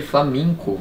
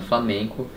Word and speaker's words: Flamenco: We ate some interesting food We saw a "Flaminco" presentation, "Flaminco"? "Flamenco"?